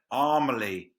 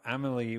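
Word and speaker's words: Amélie: l i e yeah the American trailer said armaly you you love mispronouncing words like they know it's called Amal because they they saw fil Amal amily Pand all the way through Amal amily amily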